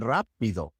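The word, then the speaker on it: rápido: So what is the rule? When is the R soft as in pero and when is it hard as in rapido? Well, basically the rule is if the R is at the beginning of the word, it is hard. That's why it is hard in rapido and rosa. If it's in the middle of the word, it is soft.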